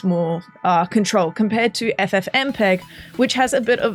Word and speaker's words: FFmpeg: FFmpeg.